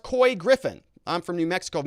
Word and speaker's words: Couy Griffin: is here says uh it's pronounced coy griffin i'm from new mexico